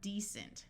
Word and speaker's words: decent: Here we have the root word decent with a long E and a C using its soft sound of S because of the E.